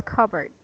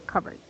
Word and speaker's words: cupboard: It's like cupboard, but when you pronounce it, it's cupboard. Cup. Yes. So you can take note of that one. I will send you the correct pronunciation. So this is like this one, cupboard. Okay, cupboard.